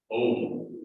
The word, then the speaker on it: Om: Om is a sacred sound, and in Tibetan it is pronounced more of an A-U-M, like an Om.